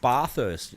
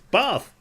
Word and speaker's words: bath: Oh, what about you saying bther last night? It's bath.